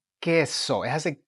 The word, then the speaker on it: queso: You do not pronounce the U. You ignore the U and you pronounce the vowel that follows it. All right, this is important. So this word is queso.